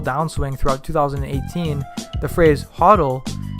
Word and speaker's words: HODL: As cryptocurrency markets began their volatile downswing throughout 2018, the phrase HODL, spelled differently than hold and pronounced similar to huddle, emerged from the crypto community.